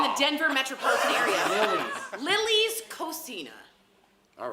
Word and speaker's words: cocina: Cucina? Cocina.